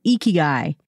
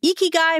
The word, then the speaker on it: ikigai: okinawa he says that if you're trying to pronounce this word the very first thing you have to do is smile because the sound is best pronounced when your face is in a smile position he says that the